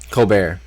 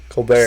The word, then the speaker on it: Colbert: fiance Guy Stephen Colbert Colbert Colbert Stephen Colbert yeah you don't pronounce the T no is he is